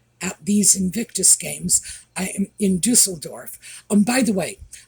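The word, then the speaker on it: Düsseldorf: Dusseldorf, by the way, a lot of people are pronouncing that Dusseldorf. No, it's Dusseldorf. If you want the pronunciation, go online and get the pronunciation from a German speaker. It's Dusseldorf.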